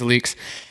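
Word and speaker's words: Alyx: williams who started leaks that's how you say it i thought it was alex but it's leaks and a soccer player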